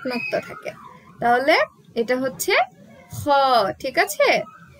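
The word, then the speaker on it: خ: তাহলে এটা হচ্ছে খ। গলার ওপর সেট একটু আওয়াজ দিয়ে উচ্চারণ হবে খ।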